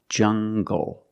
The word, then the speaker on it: jungle: jungle tangle an angle these are pronounced with the hard G sound example monkeys live in the jungle make the hard G sound jungle so you have the